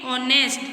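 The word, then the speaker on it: honest: लेकिन इसमें जो है वो एच जो है वो साइलेंट है, इसलिए हम इसको क्या रीड करेंगे? ऑनेस्ट.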